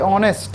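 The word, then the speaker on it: honest: এই যে এন এসটি অনেস্ট হয়। অনেস্ট মানে হচ্ছে সৎ মানুষ। তাইতো? তাহলে উচ্চারণগুলোর দিকে আমাদের ধ্যান দিতে হয়।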